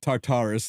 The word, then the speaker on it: Tartarus: And it's tartarus, not tartar sauce. Whatever that guy said. Yeah. Tartarus, yeah.